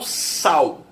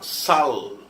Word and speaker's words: sal: Eu falo sal. Mas eu conheço muita gente, principalmente mais velha, que fala sal. A pronúncia original, né? Com L, com som de consoante mesmo. Sal.